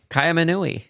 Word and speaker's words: Kaiaimunu: Kaiaimunu.